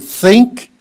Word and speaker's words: think: the word so um when you say the word think you got to put your tongue out past your lips and then you gotta maybe the way to practice it best would be to take a breath breathe in before you say the word think think and then think think and not only breathe out but sort of blow air out think okay word word